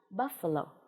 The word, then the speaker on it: buffalo: Chúng ta đã biết cách đọc phiên âm Á này, buff, fur, buffer, và đây là nguyên âm đôi o, như vậy mình sẽ đọc là buffalo, con trâu.